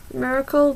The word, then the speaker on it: Myracle: Green maureen johnson and lauren myracle i think that's how you pronounce it miracle but with a why so anyway this book